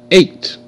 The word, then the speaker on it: eight: a a a eight eight eight 8 GH is silent GH makes no sound the number eight